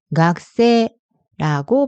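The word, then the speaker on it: 学生: 번째 악세는 학생이라는 뜻이에요 히라가나를 보면가 크세이이지만 실제로 발음할 때는 각세라고 발음해 주셔야 해요 같이 한번 발음해 볼게요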